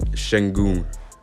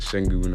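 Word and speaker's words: Şengün: So to start off this draft, the first prospect we're going to look at number 14 is Alperen Sengun. Yes, that's how you pronounce it, Sengun.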